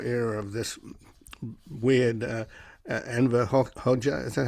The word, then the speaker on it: Hoxha: the Cold War era of this weird Enver Hoxha, is that how you pronounce it? Hoxha, yeah.